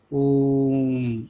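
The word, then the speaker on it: ओ३म्: और इस 3 का मतलब क्या है कि इस ओम का उच्चारण हम 3 मात्राओं के समय जितना करेंगे और लंबा करेंगे, ओम ऐसे बोलेंगे।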